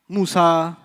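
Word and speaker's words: موسى: Musa will always be non-flexible. Musay. You haven't heard Musi, you've heard Musay. That's a qira'ah difference. It's a pronunciation difference, not a grammar difference.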